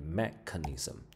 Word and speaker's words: mechanism: 注意这个单字的发音要念 mechanism。